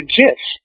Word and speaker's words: GIF: Mike a lesson earlier it's gift with a hard G for the creator of the image so I see that's the thing I heard somebody say that the guy who created it had called it a jiff that's what that's what